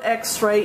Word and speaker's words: x-ray: X is a consonant and the word x-ray it sounds like it starts with a vow ex therefore you need the